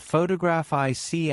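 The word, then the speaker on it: photographic: For example, photograph noun is stressed on the first syllable, but photograph IC adjective is stressed on the third.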